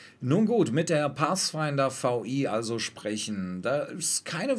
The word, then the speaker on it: VI: Ja, jetzt weiß ich endlich, das heißt nicht 6, sondern VI.